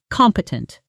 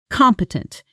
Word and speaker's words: competent: Stress on the first syllable. Practice with me. Competent. Competent.